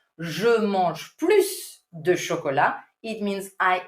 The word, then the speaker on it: plus: And you do pronounce the final S. However, in a negative sentence, you would say je ne mange plus with, very important, a mute S.